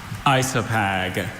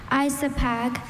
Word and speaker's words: isopag: Isopag Isopag. Are there any alternate pronunciations?